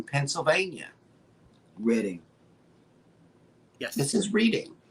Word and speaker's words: Reading: This is Reading. It's Reading. Reading. The It's way you Reading. pronounce it is Reading without the A. It's like a double D.